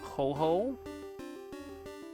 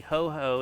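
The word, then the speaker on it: Ho-Oh: In the in the English version, hoo has a dash between its name. So, it's like I know in the Japanese pronunciation it's supposed to be a long o sound and I think that's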